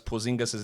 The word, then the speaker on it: Porzingis: It's Stephen A. Smith mispronouncing Kristaps Porzingis' name on draft night and complaining about the Knicks. You guys, you brought me back off vacation just so you could draft someone by the name of Porzingis. And that's all that is because, when you're going to go on and irrationally rant against a franchise and then not know how to say the bloke's name, and then he turns